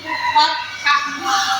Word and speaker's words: fathah: Nah, yang pertama yaitu fathah, bukan fathah ya dibacanya, tapi fathah, ya.